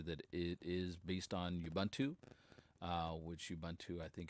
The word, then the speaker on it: Ubuntu: I think a lot of people have moved on to pronouncing it YUbuntu. So I guess that's how I'll pronounce it now.